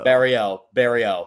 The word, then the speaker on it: Barriault: I'm terrible at pronouncing It's names. French. Barrio.